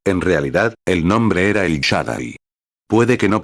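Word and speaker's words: El Shaddai: Él siendo Dios, él es en realidad el nombre era el Shadai. Puede que no pronuncie esa palabra correctamente.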